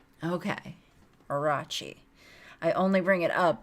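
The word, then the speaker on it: Orochi: just did yep uh when it should be pronounced soft like in cheese so arachi okay orachi i only bring it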